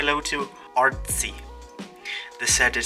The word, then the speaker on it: Artsy: The set is said in a German way. And if you don't know how Germans say the zed, they say a ts sound.